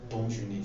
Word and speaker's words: bonne journée: You can as well wish me bonne journée. So it is pronounced as bonne journée. Bonne journée.